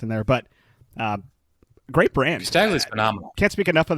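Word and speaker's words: Casdagli: much information about it, but it looks like Casadagli. Castagli. You know how to say it. Thank you. Castagli.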